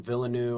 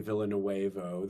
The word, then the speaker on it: Villeneuve: Villeneuve, I think is how you say his name, the director, right? Villeneuve. And I think Villeneuve, something like You that. say it like you're from Miami, Villanuevo. That's not it.